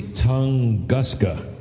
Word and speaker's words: Tunguska: This last release, and let me see, Tunguska.